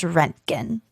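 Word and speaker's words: Röntgen: wow when a german engineer and physicist named wilhelm conrad rentkin there's an umlaut over the o so i think it's pronounced renkin okay produced and detected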